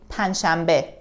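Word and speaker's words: پنجشنبه: is written like this panj shambi but in reality we say panchambe we don't pronounce the j it's a little bit difficult to put these n and j sounds together punch we have to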